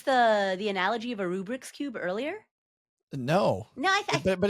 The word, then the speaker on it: Rubik: We should call it the Rubric's cube. That's true. That's a Rubik Rubik cube. It's Rubik.